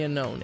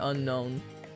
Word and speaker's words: Unown: But everyone calls it Unown. Unown is the Pokémon. Unown is the English word, yeah. It's it's pronounced the same. They're just spelled differently.